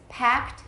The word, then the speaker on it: packed: Packed is 1, correct? Because this is voiceless, we just add a T sound here.